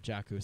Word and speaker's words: Jakku: Jakku.